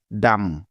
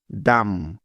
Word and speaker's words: dumb: এবার দেখো, সবার শেষে আছে বি, কিন্তু লক্ষ্য করে দেখো এখানে বি এর আগে কিন্তু এম অক্ষরটি আছে। তাই নিয়ম অনুযায়ী এখানে বি এর কোনো সাউন্ড হবে না, অর্থাৎ বি বর্ণটা এখানে সাইলেন্ট থাকবে, কারণ এটাই হলো বি এর সাইলেন্ট থাকার প্রথম নিয়ম। সুতরাং ডি ইউ এম বি একত্রে মিলে হয়ে যাবে ডাম।